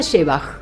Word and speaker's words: Szewach: Se pronuncia Shebach, porque te iba a preguntar. Se pronuncia Porque eso es un desastre. No, pero bueno, está bien, fonematizado es Le Shebach. puse onda, ¿viste? Shebach, muy bien.